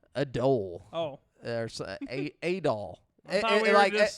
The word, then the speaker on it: Adol: You say his name was Adele? Adul. Oh. There's Adol. I thought we were just setting fire to the rain over And once again, we have a Hitler reference here. It's Adolf without the F.